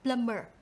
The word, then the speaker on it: plumber: ra cái âm này, thành ra chúng ta đọc là plumber.